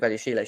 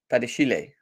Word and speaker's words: Badiashile: The accent on the Badiashile, E for Badiashile. Badiashile.